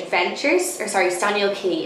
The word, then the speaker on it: Staniel Cay: k adventures or sorry staniel key it's spelled like hey that was like cay and we'll probably link